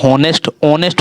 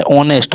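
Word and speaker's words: honest: ठीक है, ये होनेस्ट होता है, ऑनेस्ट, हा नहीं होता है, होनेस्ट नहीं, ऑनेस्ट होता है।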